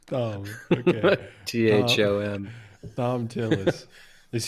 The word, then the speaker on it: Thom: So, Thom actually is pronounced. Thom.